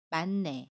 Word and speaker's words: 많네: 이미 은희 흙과 첫소리 자음 2인이 만납니다 그러면 많네 라고 발음 해요 받침 히 s 는 발음하지 않고